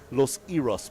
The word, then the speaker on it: Los Iros: Or should I say Los Iros Beach to pronounce it Los correctly?